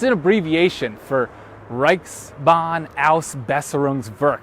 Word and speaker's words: Reichsbahnausbesserungswerk: It's an abbreviation for Reichsbahnausbesserungswerk. That's actually one 7-syllable German word.